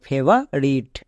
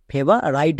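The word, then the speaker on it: favorite: speaker তাই এটা দাঁড়ালো ফেভার রিট ফেভার রিট একে কেউ ভুল করে ফেভার রাইট বলবে না পরিষ্কার রুলসে আছে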